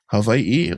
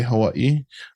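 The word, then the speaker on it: Hawaiʻi: you know you know people say it like with a V Havi or people even say Hawaii either or works and even my mom she goes Havi so it's there's many different pronunciations and I'm not saying which one is right or wrong but the way I would say it is Havi Havi yeah good job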